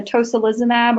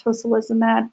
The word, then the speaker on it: tocilizumab: I believe at least one of them, the tocilizumab or the SA237, there's an analog of that is currently being used, I believe, in maybe psoriatic arthritis.